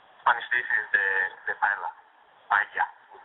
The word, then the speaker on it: paella: Paella, we pronounce it.